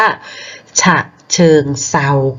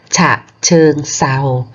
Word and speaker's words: ฉะเชิงเทรา: อ่าน ว่า อะไร คะ ใช้ หลัก การ เดิม ทร เปลี่ยน เป็น 2 ก็ จะ อ่าน จังหวัด นี้ ว่า ฉะเชิงเทรา ค่า ฉะเชิงเทรา เด็ก ดู นะ คะ